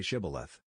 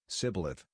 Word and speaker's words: shibboleth: they said all right say shibboleth if he said sibyleth because he could not pronounce the word correctly they seized him and